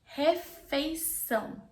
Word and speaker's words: refeição: You can do an exercise. You can pull your lips like this and do and also you can hold your nose like this. Everything you say is gonna be nasal.